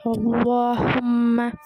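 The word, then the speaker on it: اللهم: முன்னுள்ள எழுத்திற்கு கஸ்ரா பெற்றிருந்ததற்கு உதாரணம் குலில் அல்லாஹும்ம, இது வந்து தர்கீக் அப்படின்னா லைட்டாக ஓதணும். முன்னுள்ள எழுத்து ரொம்ப இருந்துச்சு அப்படின்னா அதோட எக்ஸாம்பிள் வந்து வைஸ் காலு அல்லாஹும்ம, தஃகீம் ஹெவியாக ஓதணும். வைஸ் காலு அல்லாஹும்ம அப்படி ஓதக்கூடாது, அல்லாஹும்ம.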